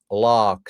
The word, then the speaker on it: Laakso: But in Finnish it's pronounced Lock.